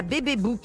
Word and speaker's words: BBbook: Alors ça s'écrit BB comme les initiales, Book comme un book. B-O-2-C-K. Voilà. Pas comme le bouc, comme l'animal. Deux OK. Ah oui, d'accord, parce que vous êtes complètement bilingue. Oui, voilà. Il y a le bouc aussi, il y a le petit bouc. Oui, mais il y a aussi Facebook. Ça s'écrit comme Facebook, mais sauf d'accord. que c'est bébé avant.